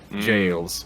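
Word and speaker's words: gaols: It's spelled with a G. The old-fashioned shoppy jails.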